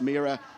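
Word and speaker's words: M1RA: Hungary uh mea racing I know there's a one in it but it is pronounced meor and there is also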